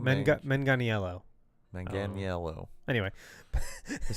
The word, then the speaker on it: Manganiello: Manganiello. Manganiello.